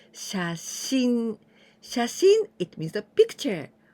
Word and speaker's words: 写真: This kanji and this one that we're going to learn, the next one, together we pronounce 写真.